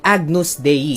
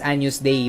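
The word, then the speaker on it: Agnus Dei: ng diyos in Latin ito ay agnus de some I pronounce as anus day but that's okay sa English Ito naman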